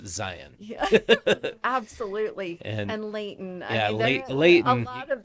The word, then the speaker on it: Zion: Like everybody from back east pronounces it Zion. And I'm like, no, Whoa. it's Zion.